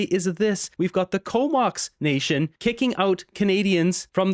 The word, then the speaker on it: Comox: Comox is two cities that merged together, and there's a First Nation band there called Comox. It's spelled with a K instead of C-O-M-O-X.